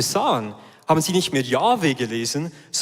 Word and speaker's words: Jahwe: Im Hebräischen gibt es keine Vokale, darum, man ist sich nicht ganz sicher, wie das ausgesprochen wurde, aber es gibt ein Konsensum bei den bei den Gelehrten und bei den Rabinen, dass dieser diese Buchstabengruppe, diese Konsonantin wurde als Jahwe ausgesprochen.